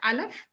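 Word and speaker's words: א: So that's the silent letter aleph.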